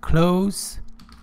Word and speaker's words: close: somebody or something for a close relationship remember close it has a say sound not zsl whenever